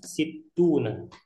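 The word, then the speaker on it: ستون: Ini cara bacanya situna ya. Situna 60. Kita kasih catatan. Situna, ya. Semoga kebaca ini ya. Situna, 60 ya. Nah, ini taknya. Ini harokat kasrah, kemudian tasydid.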